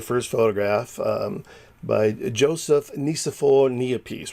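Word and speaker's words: Niépce: seen before, the first photograph by Joseph Nicephore Niepce, right? Niepce actually is the way it's pronounced, in 1826.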